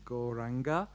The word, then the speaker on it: Gauranga: So the mantra we are going to chant is Gauranga. It's got 4 syllables. Gauranga.